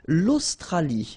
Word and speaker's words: Australie: L'Australie, final E not pronounced.